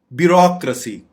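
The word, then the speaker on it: bureaucracy: यहाँ पे आपने गौर करना है कि रेसी नहीं पढ़ना, ब्यूरोक्रेसी।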